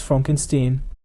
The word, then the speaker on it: Frankenstein: And remember, it's pronounced Frankenstein.